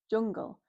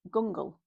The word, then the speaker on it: jungle: J, o, n, g, l, jungle. It's not an e, i, i, y sound. It's an u. So, we'd use a j, jungle. Otherwise, we'd pronounce it gungle, and that doesn't make sense.